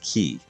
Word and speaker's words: Chi: you today it's Kyo because in Italian Chi is pronounced key oh okay huh interesting